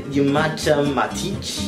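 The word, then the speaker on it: Nemanja Matić: Did you just say Nemanja Matic?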